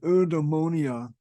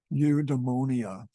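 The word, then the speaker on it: eudaimonia: for human behavior is udonia and I I checked to see how you actually pronounce this and it is from what I understand UD demonia and UD demonia is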